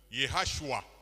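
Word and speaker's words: ישוע: Jésus en hébreu se prononce Yehashua.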